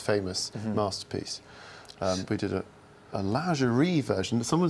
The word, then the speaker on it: lingerie: We did a lingerie version. Someone said, how do you pronounce that? Well, I said lingerie, and this guy came up to me after a show and said, it's not lingerie, it's lingerie.